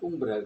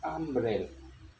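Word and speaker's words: umbrella: U adalah huruf hidup konsonan, tapi bacanya bukan umbrel tapi ambrel ya.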